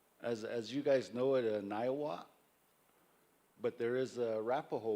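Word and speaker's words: Niwot: As you guys know it, Niawat, but there is a Arapaho word for Niawat. Can somebody help me? Nawa is the true way to say his name.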